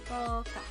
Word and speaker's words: 먹다: Try it again as you pronounce it about the movement of your tongue. 그 sound in 먹 to the d sound in da. 먹다. There isn't anything hindering or stopping this movement.